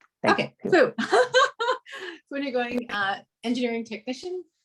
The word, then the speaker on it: Phu: I'd like to introduce Fu. Am I getting your name right? Fu, can you pronounce that for me? Just don't want to mess it up. Yeah, that's correct. That's my name. Okay, Fu.